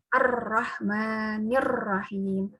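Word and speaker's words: الرَّحْمٰنِ الرَّحِيْمِ: kurang lancar misalnya harusnya arrahmanirrahim ini bacanya Ar Rohman Ya Rohim arrohmanirrohim arrohmanirrohim arrahmanirrahim jadi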